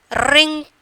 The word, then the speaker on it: wrinkle: Wrinkle. How we are pronouncing?